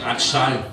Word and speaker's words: bretzel: C'est le seul endroit où vous trouverez aussi la vraie bretzel, prononcée bratschal.